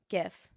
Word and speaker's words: GIF: is inventor oh yeah inventor Steve willit is adamant about pronouncing GIF like the peanut butter oh so he's very